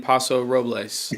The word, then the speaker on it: Paso Robles: you have some wine in Paso Robles? Is that how you say it? Yep. Did you have wine?